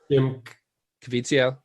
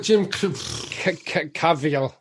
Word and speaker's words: Jim Caviezel: Jim Caviezel. Fuck. What? It's literally how it's spelled. Like, is it? Yeah. How about it was like Jim Caviel.